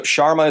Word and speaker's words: Sharma: say your last name shouldn't me some so Sharma is my lesson let me just spell it for you yeah s am ier sha